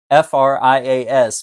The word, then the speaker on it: Frias: It's Victoria Frias. Frias, but you say it like free us.